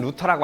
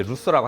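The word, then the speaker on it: Luther: 얘들아 상식적으로 우리가 마틴 루터라고 하는데 발음으로 하면 이제 루서라고 하잖아.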